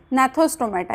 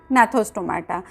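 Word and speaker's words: Gnathostomata: उसमें से जो फर्स्ट वन है वो है अग्नैथोस्टोमाटा एंड सेकेंड वन जो है वो है नैथोस्टोमाटा। यहाँ पे जी साइलेंट है।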